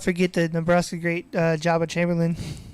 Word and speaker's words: Joba: forget the Nebraska great Jabba Chamberlain. Joba. Is it Jabba or Joba? I pronounce it Jabba, but I think Joba. I've heard people say Joba and Jabba, but I always say Jabba.